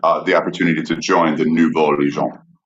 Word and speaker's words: Nouveau: And it was considered the New Legion, the Nouveau Legion. Now there was a good pronunciation, Sean. I feel like everyone should give him a slow clap. John, good. Nouveau Legion, good.